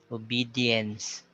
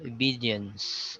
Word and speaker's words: obedience: see the a so there's a tendency for us to pronounce the a sound significance so it's like that s uh way of habit but here we are corrected that both of these syllables are sounded the same so obedience see significance well there